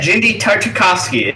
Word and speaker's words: Genndy Tartakovsky: genndy tartakovsky I still have trouble saying that genndy tartakovsky is that right yes you did say it